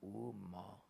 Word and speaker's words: ओम: कुछ कोई कुछ नहीं ओंकार जो है [गला साफ़ करने की आवाज़] वो तीन मात्रा का है। तीन मात्रा एक अ उ और म हलंत है। म पूरा नहीं। और ओ मा तभी होता है ओम परंतु वह मिलकर के ओम है अलग-अलग से नहीं कोई बोलता है मात्रा है ना इसीलिए उसको क्या कहते हैं उच्चारण करते ओम ऐसा उच्चारण नहीं किया जाता है उच्चारण